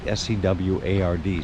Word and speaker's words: Seward: this little town called Seward I hope I'm pronouncing that right that's how can you not pronounce it right s-e-w-a-r-d Seward but uh anyway I'm going